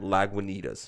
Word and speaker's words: Lagunitas: How do you pronounce that? Lagunitas.